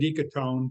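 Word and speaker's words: ecotone: got some phrases here I've been scribbling down Echo tone where did that come from am I getting that right e c o t o n e yeah I would pronounce it eone but okay yeah it's an enir it's an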